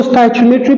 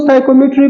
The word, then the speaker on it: stoichiometry: कुछ स्टूडेंट जो है इसको स्टोइचियोमेट्री प्रोनाउंसिएट करते हैं, कुछ लोग स्टोइकोमेट्री प्रोनाउंसिएट करते हैं। ये कोई बड़ी बात नहीं है।